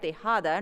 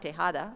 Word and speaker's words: Tejada: Roberto Tejada, if I say it, then I think in Spanish I can say it right, Tejada, not Tejada, so, from English and Art History has received the prestigious Guggenheim Fellowship.